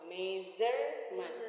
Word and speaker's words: measurement: Measurement. No. Measurement. Jadi ini jadi Z ya.